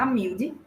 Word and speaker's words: Amiúde: Não, meu nome se pronunciar Amilde, mas são anos de pronúncias erradas e eu fico com pena das pessoas que pronunciam errado, eu não corrijo mais.